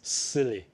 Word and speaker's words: SIYLI: It's pronounced as silly.